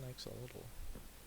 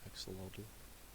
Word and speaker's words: axolotl: There's an axolotl. I forgot what you have to feed them. I also just kind of butchered the name, axolotl. I mean axolotl.